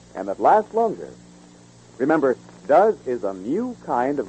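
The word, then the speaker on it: Duz: Remember, Does is a new kind of granulated soap, not just a new improvement of an old soap.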